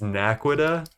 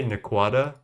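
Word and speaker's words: Naquadah: I know the right way to say it is Naquita, but that feels American or just wrong to me. I say Naquata, and I know that that's not specifically correct, but dude, this void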